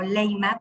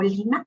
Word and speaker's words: Leymah: el imán bowie este nosotros lo podemos ver como leymah pero ella lo pronuncia como lima algo así y ella es